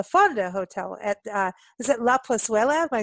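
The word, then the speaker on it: La Plazuela: were at La Fonda Hotel at, is it La Pozuela? Am I saying it right? Pozuela, yep.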